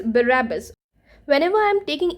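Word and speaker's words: Barabas: ए बी ए एस बट डू not pronounce it एज बरबस इट इज़ बरबस when ever I एम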